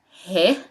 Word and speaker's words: ه: He, he, wow, wow, ye, ye. One more time. He, wow, ye. Let's start. He, he. He, from its name pronounced as H in English.